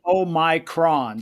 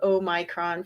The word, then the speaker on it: Omicron: this uh is it is it omicron or omicron my wife insists it's oh my kron so yeah i think that's probably the best pronunciation i've heard i i don't speak greek uh so i'm not 100 sure but i think several pronunciations are acceptable and i'm gonna do oh micron from now i like